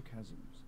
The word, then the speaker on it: chasm: Then go into the chasms. It's pronounced chasm.